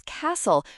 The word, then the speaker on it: castle: The answer for question seven is castle. Remember the T is silent.